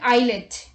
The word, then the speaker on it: islet: S is not pronounced before L in the following words. Let's look at the examples. Island, isle, isle and islet.